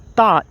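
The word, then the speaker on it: Thoth: many of us followed thought pronounced thought t-o-t-h was that though to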